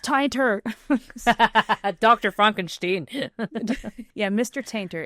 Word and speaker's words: Tainter: It's pronounced tinter.